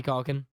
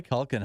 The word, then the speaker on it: Culkin: I think it's pronounced Macaulay Culkin.